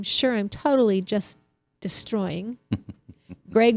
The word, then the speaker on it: Gregg: Gregg with 2 G's sounds like an A. Yes, that's right. And Gregg with 1 G sounds how? With an E sound.